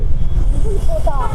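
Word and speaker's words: আন্দুলপোতা: আন্দুল পোতা বলে না আন্ডুল পোতা বলে? আন্দুল পোতা। আন্দুল পোতা। ওকে আন্দুল পোতা।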